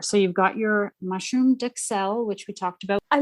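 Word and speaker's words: duxelles: So you've got your mushroom duxelle, which we talked about. I looked up the pronunciation on duxelle. Duxelle. A U in French has a very ooh. Ooh, duxelle, so not duxelle.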